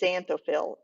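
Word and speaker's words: xanthophyll: carrots and yellow is xanthophil it sounds like a z but it's spelled with an x the other one is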